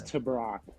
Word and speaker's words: Tebrake: pronounce it can you tell me how to pronounce this to brock to brock to brock dillon to brock creighton